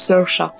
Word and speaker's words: Saoirse: Dommage, en fait ça se prononce Saoirse.